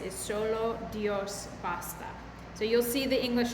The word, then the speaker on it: solo Dios basta: little bit this morning so here's how to pronounce it nada T and then that last little phrase is solasta so you'll see the English translation but we're